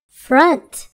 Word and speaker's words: front: expect it to have the word front has a short u sound front the word pint has